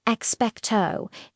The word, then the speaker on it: Expecto: Let's start with expectto instead of that long rounded O sound. You'll often hear a flatter, shorter O. It's more like expectto. It's quicker.